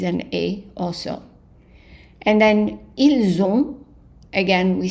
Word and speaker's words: ils ont: The S is pronounced as a Z, the T is silent. Ils ont. And the N is not voiced 100%, it's just so it's a nasal.